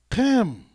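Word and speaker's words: חם: In Hebrew, his name is pronounced Chem, which sounds just like Kim, which is where you get Kemet from, city or land of Ham, land of Chem.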